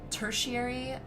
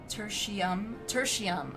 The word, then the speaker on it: Tertium: I think it's pronounced tertiary. Tertium.